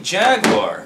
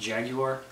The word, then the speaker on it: Jaguar: show and tell I have brought the Atari Jaguar which uh you've never heard of probably not isn't that pronounced Jaguar it's Jaguar don't be a I thought I